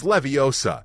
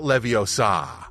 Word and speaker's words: Leviosa: quite some time yelling it's Leviosa not Leviosa Hermione was the star of